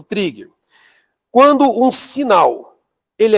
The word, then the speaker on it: trigger: Escreve eh trigger, mas se pronuncia trigger.